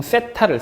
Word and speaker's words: 세타: 그런 것처럼 이 삼각형, 물리에서 쓰는 각은, 임의의 각은 보통 세타를 써. 번데기 발음이지? 세타?